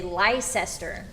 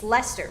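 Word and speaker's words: Leicester: Is it Lester? My my the American wolf in me wants to say Lysester, but that's not right. It's leester, right?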